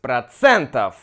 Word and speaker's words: процентов: 29% ударение здесь процентов. Значит, здесь у нас процентов. Да? Процентов.